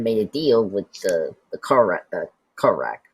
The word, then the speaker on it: Korak: But so apparently that Maggie, so she had made a deal with the Korak, right?